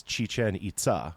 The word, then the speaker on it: Chichen Itza: most touristed Maya site and the most often mispronounced name of any Maya ruin site. what do people call it? Well, it is Chichen Itza, which means like Chichen the little well or cenote of the Itza people.